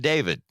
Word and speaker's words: D4VD: Actually, that's just how he spells it, he pronounces it David.